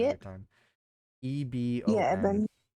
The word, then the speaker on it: Ebon: Yeah, Eben. Eben, yeah.